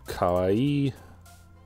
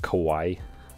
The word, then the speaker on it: kawaii: But kawaii, kawaii. I guess it's because you're pronouncing W-A-I and ignoring the other one.